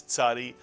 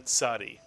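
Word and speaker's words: צ: It really is a very easy letter to pronounce once you think of the Mr. and Mrs. Katz, the ts sound, the tzadi.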